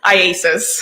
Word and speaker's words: IACIS: And that's IACIS? ISIS, yes. And can we call it ISIS? Yes. How do you say it? IASIS.